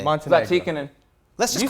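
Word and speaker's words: Zlatičanin: Zlaticanin.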